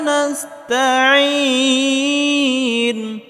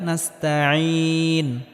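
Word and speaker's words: نَسْتَعِينُ: ইয়াকা নাবুদুয়া ইয়াকা নাসতাাইন ইয়াকাবুদুইয়াস এখানেও আইনটিকে গলার মধ্যে হালকা চাপ উচ্চারণ করতে হবে। এখানেও আইনটিকে গলার মধ্যে হালকা চাপ দিয়ে উচ্চারণ করতে হবে। ইয়াকা নাবুদু ওয়া ইয়াকা নাস্তাইন।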